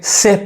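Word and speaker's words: chef: पे जो सीच है इसको चेफ नहीं कहेंगे सेफ पढ़ेंगे या नहीं यहां पे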